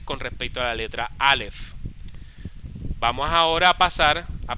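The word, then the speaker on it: אלף: Julia eh este alef no pronunciaste la f para ver más fuerte dilo alef Ah sí alef porque Qué pasa que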